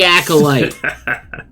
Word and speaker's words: acolyte: it I don't know even even even they say accolite that's the right pronunciation okay and I'm the